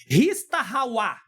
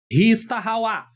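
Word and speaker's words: הִשְׁתַּחֲוָה: Na língua hebraica existe uma expressão chamada ristahawa, ristahawaá, tá? Eu tentei colocar aí mais ou menos a pronúncia para você entender, tá?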